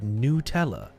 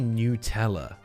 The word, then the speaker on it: Nutella: you you've only heard newella. Newella. Americans call it newella. It's got nuts in it. The whole point is that it's made of nuts and chocolate. Nut. Nutella. It's strictly Nutella.